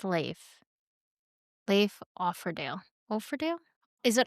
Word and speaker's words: Leif: The name is pronounced Leif.